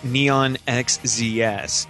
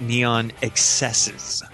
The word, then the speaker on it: Neon XSZ: in his press info it's not neon xzs it's pronounced neon excesses really yeah oh I